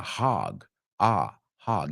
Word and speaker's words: hog: Now, it's interesting because it's an O. It's HOG, pero se pronuncia más como una A. Hog. Hog.